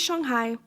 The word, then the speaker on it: Shanghai: And yes, it is pronounced Shanghai, not Shanghai.